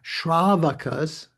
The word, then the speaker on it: Shravakas: Yeah, Shravakas. So that's different. That doesn't have a long A, Sean, if that is correctly pronounced there, as the Charvakas.